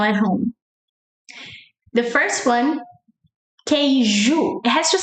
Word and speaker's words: queijo: The first one, queijo. It has to sound like ju, like junior, João. It has to sound like ju to be cheese.